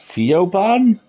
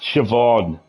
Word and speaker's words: Siobhan: Theoban? Siobhan. It's pronounced Siobhan.